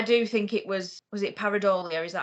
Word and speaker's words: Pareidolia: But yeah, I do think it was it Pareidolia?